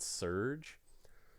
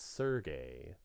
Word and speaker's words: Serge: I always said Serge. I know some people were like, oh, it's Sergey or Sergi or other things. I'm just going to say Serge, like a wave, because that makes sense to me.